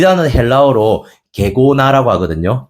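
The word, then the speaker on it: γέγονα: 이 단어는 헬라어로 게고나라고 하거든요. 발음을 조심해야 돼요. 게고나.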